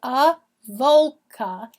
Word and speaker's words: Avoca: The name Avoca, and it's pronounced Avoca, is a Gaelic word meaning the meeting of 2 waters.